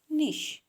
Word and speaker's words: niche: निश spelling कशी आहे बघा, NICHE, प्रोनाऊन्स करायचं आहे निश.